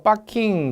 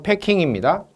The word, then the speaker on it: 패킹: 패킹은 P-A-C-K-I-N-G 일본식 영어 발음으로 빠킹 그렇게 합니다. 현재 빠킹 그런데 빠킹이 아니고 패킹입니다.